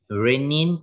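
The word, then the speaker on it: rennin: Renin and, these two, both are pronounced renin, but they are different.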